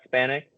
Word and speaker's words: Spanhak: Uh it's Spanic. So like Span and you just put them together.